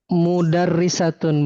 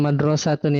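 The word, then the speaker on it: مدرسة: Jadi hadzihi mudarrisatun bukan madrasatun ya.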